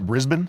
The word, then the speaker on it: Brisbane: And Is that how you pronounce it? Brisbane? Yep.